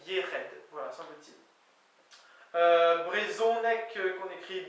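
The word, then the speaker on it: yec'hed: Y-E-C apostrophe H-E-D, mais qui se prononce Yered, voilà, semble-t-il.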